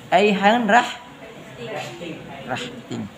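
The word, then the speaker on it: eigenrichting: Aihan rahting. Tulisannya masih ingat? Rahting, dibaca rahting. Aihan rahting. Jangan bilang aingen.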